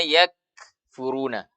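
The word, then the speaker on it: يَكْفُرُونَ: Innalladzina yakfuruna. Nah, tahan dulu. Baru lepaskan suara nafasnya. Tahan suara. Lepaskan nafasnya. Ak, yakfuruna. Yakfuruna. Kalau kita membacanya yakfuruna, berarti baru syiddah yang diberikan. Kita belum memberikan sifat hamas.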